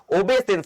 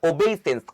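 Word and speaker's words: obeisance: দেখো উচ্চারণে ওবেইসেন্স, সেন্স মানে লাস্টে সিই আসবে, সেন্স, এটাতে এস আসে না, তাই জন্য অ্যান্সার হবে SANCE, ওবেসেন্স নয় ওবেইসেন্স, কথাটার মধ্যেই ওবে আছে, ওবে মানে কি মেনে চলা।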